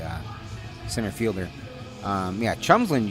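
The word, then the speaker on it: Tjomsland: center fielder um yeah chumsland you wouldn't think it was chumslin it's spelled t-j-o-m-s-l-a-n-d throw back the second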